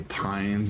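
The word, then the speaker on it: Paine: wish you'd stop I'm bother you say Pines and Pie instead of pain even though I know it's the correct pronunciate I know it feels so weird to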